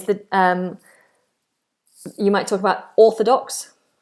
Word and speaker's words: orthodox: It's a long vowel. It's a big space in the mouth and it's far back, like in the word door or floor or the law, like mother-in-law. Don't break the law. On the floor, through the door. Orthodox. Big space in the mouth, no movement, not o, which lots of people do.